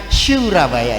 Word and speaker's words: Surabaya: Surabaya, bacanya Surabaya ya.